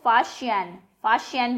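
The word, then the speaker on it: Faxian: फाशियान, Chinese उसमें एक्स जब लिखा जाएगा वो श बोला जाएगा, तो इसको फाशियान प्रोनाउंस करेंगे आप.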